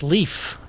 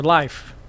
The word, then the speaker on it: Leif: It's leaf, not Leif or life. That's 3 different pronunciations this game has said.